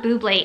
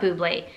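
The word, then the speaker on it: Bubly: buble my kobu blaze i call it buble it's not boobley bubble how do you pronounce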